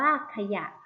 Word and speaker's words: ขยะ: เอา ไป คำ ต่อ ไป ขยะ อ่าน ว่า ขยะ แขยง อ่าน ว่า แขยง แต่ ฉลาม อ่าน ว่า